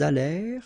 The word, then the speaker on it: allèrent: Ils allèrent, liaison, elles allèrent. And then this ENT at the end, you know, the mark for the plural. Well, clearly you don't pronounce it, so you get allèrent.